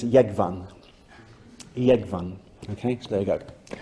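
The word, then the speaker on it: Jógvan: But in the Faroes it's Yegvan, okay, so there you go.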